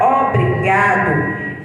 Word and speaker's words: obrigado: até aqui ó brigatto e a sílaba forte da palavra obrigado é a sílaba Ga e ela ajudar e